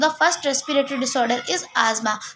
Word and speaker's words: asthma: सो the first respiratory disorder is आजमा। Some people pronounce it एज अस्थमा, बट इट इज़ नॉट अस्थमा, इट इज़ आजमा।